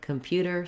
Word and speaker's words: computer: Because the first syllable come is unstressed, we don't say an O or an ah sound for this letter O. It's actually a vowel schwa, and it sounds like One way to practice